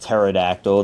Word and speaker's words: Pterodactyl: Is this a Pterodactyl? I know it's pronounced Pterodactyl, the P is silent.